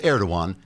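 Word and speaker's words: Erdoğan: personally I'd have told erdogan to at stuffed the g is silent trigger warning I'm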